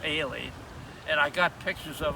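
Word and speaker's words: Holley: that john uh uh holly h-o-l-l-e-y but it's pronounced ailee and i got pictures of him of the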